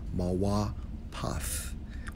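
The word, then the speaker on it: מוֹפֵת: When we investigate wonder, according to the Hebrew, it's Strong's H 4159, pronounced as Mawa Path, which means what?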